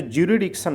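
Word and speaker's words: jurisdiction: जे यू आर आई एस फिर Dickson. जरिसडिक्शन। लेकिन इसमें क्या है? एस छूट जाता है बोलते वक्त। यही सब सीखना है आपको गलती ना हो तो जुरिडिक्शन बोलते हैं क्या बोलते हैं लोग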